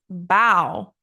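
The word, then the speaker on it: bough: then we have b u g which is pronounced bow as in cow rhymes with cow and then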